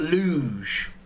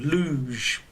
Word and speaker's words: luge: down so you've got luge which is an intro again you can hear the pronunciation we don't say uh lug yeah this one is more of a j sound luge okay the next one